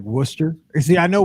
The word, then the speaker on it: Worcester: So they were talking about all these crazy places in like New England where, you got like Worcester. See, I know Worcester because the Blues used to have a minor league team there.